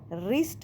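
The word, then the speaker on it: wrist: और रिस्ट में भी डब्ल्यू साइलेंट आया।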